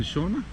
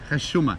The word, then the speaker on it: حشومة: And what was that in shorma? حشومة. Shorma? حشومة. It's a shame Okay, shurma. Shurma is shame. Okay. with at the beginning. حشومة. Hashuma. Yes. Hashuma. That's Okay. the way you should pronounce it.